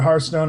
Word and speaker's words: Hearthstone: Old Republic and and hearstone and uh although everybody pronounces it Hearthstone I know that's how blizzard officially pronounces it but they're wrong um yeah and of